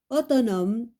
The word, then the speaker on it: autonome: L'homme, L-O, l'homme, donc le H, on ne le prononce pas. Bonnet, la lettre T. Rouge, la lettre E. Le scaphandre, la lettre E. Autonome, E.